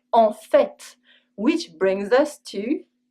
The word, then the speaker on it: en fait: With En fait, we also always pronounce the t. En fait, tu avais raison !